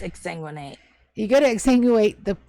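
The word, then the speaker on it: exsanguinate: to ex ex sanguinate is that the right term I think I'm saying it wrong okay uh no it's ex sanguinate you got to exu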